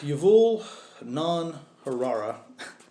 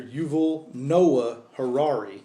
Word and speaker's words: Yuval Noah Harari: matters of time Dr yevul non-harara I know I said that completely wrong doctor Yuval Noah Harari I believe is how you say it uh when he